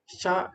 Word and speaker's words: श: क्योंकि इसका तालू है ये जो श है ना इसका तालू है असली इसका उच्चारण स्थान है तालू सा तो वहां पर जीव रख के जो श निकलेगा वो शुद्ध श होगा दूसरा जो श य